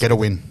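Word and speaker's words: Gerwyn: Gerwin. Very close. It's got like a D. It's pronounced. Get a win.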